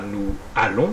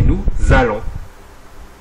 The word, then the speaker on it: allons: lettres muettes autre remarque on ne dit pas à nous allons mais nous allons on fait la liaison de même on ne